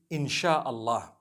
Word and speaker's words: insha Allah: as when people read it they read it insha Allah because a transliteration means nothing it just it